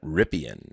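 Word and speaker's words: Rypien: Ripien.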